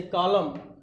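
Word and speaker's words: column: पांचवें में कहता है यदि किसी शब्द में यम के बाद यन आया हो, यम के बाद यन आया हो तो वहाँ यन क्या होता है, साइलेंट होता है, जैसे कॉलम और आटम, ठीक है, इस तरह।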